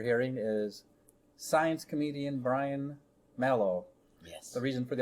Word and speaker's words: Malow: awkward pause is because i remind myself that his last name rhymes with shallow so should you find yourself at home trying to remember brian if there were two l's everyone would get it right but there's only one